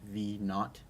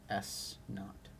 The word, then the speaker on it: naught: pronounced V naught plus s naught so just a quick quick couple of notes Here on the pronunciation V with a little 0 here is pronounced V not like naughty but without the Y and then S 0